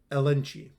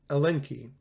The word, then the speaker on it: elenchi: Ignoratio, elenchi. Ignoratio, elenchi. I don't think the CH is pronounced ch in Latin.